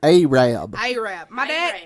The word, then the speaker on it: Arab: other and it became Arab Alabama which everybody thinks is arab arab yes I work in Marshall County and they pronounce it a Rabb my dad is from